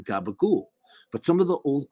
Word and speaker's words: gabagool: So change it to an oo and toss out the last syllable. It's just a vowel. Who needs it? Now try it again. Gabagool.